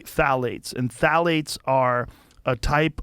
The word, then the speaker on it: phthalates: And when the introduction of phthalates, it starts with a P, P-T-H-A-L-A-T-E-S, I think it's how you spell it. You say phthalates.